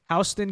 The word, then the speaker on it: Houston: Houston County, R+1 it's pronounced there.